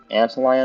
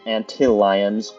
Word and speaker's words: antlion: That's an antlion over there. Antlion. I always pronounced them antilions, but, what is my aim?